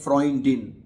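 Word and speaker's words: Freundin: आगे डिफ्रोंइडिन सॉरी डिफ्रेंडिन सहेली को अगर कहते हैं ये लफज़ अक्सर स्टूडेंट्स सही प्रोनाउंस नहीं करते। सहेली को जर्मन जुबान में कहते हैं फ्रोंइडिन।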